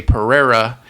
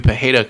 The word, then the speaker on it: Pereira: Us Americans, we just don't know how to pronounce Brazilian names properly.